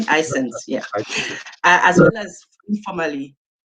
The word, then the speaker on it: ISANS: Is that the correct pronunciation? ISANS, yeah.